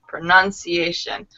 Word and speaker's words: pronunciation: For example, pronunciation. The emphasis is on the nun. Pronunciation.